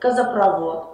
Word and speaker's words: газопровод: вот ещё одно правило в сложном слове которое заканчивается на слово провод в самом слове провод ударение падает на первый слог Но если это сложное слово например такое как нефтепровод или такие слова как а газопровод ударение уходит на последний слог поэтому нефтепровод газопровод мусоропровод но электропровод Ну и конечно надо